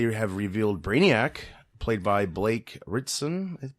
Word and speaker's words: Blake Ritson: revealed Brainiac played by Blake Ritson that's how you say it that's getting a lot